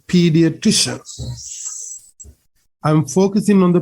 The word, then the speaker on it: pediatrician: the correct pronunciation is pediatrician so you can say it with me pediatrician try to get this three syllable kind of a higher pitch higher sound pediatrician so who is